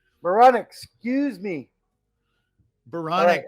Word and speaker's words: Baranek: hard Dave close Dan baronic Veronica excuse me baronic rhymes with bionic and that's how I